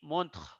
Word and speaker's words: montre: Here, for example, here you see montre. The letter r before e is pronounced full, it is not silent.